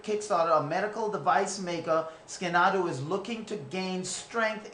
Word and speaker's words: Scanadu: So, but there's a company that's called Scanadu. Or Scandu, however you want to pronounce it, Scanadu.